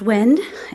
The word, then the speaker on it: Nguyen: It's pronounced Nguyen. It's spelled Nguyen, and my husband is Vietnamese.